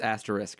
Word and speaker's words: asterisk: You know it's pronounced asterisk, right?